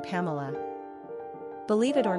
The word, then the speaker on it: Pamela: Therefore, Pamela's etymology was most likely intended to mean sweetness. Sidney also pronounced the name Pamela rather than the Pamla pronunciation we're familiar with today.